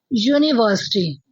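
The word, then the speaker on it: university: ऐसे ही अगर हम देखें नेक्स्ट वर्ड यूनिवर्सिटी। यूनिवर्सिटी। ठीक है? ये भी वाई की साउंड दे रहा है।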